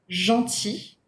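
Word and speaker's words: gentil: it in words like be careful though with the word jaunty its feminine form jaunty which means nice we do pronounce the sound when it is feminine but we do not pronounce the l when it is in its masculine form all right the two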